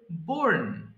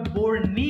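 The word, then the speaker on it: borne: বহন করা bear বোর বোর্ন এটা আবার বোর্নি হবে না কিন্তু হ্যাঁ সবাই খেয়াল করবেন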